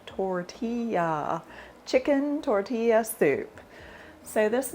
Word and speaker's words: tortilla: Today I'm going to be making chicken tortilla soup. Yes, I know that's not how you pronounce it.